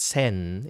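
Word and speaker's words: 千: for a thousand and it's pronounced sen in Japanese and CH in Korean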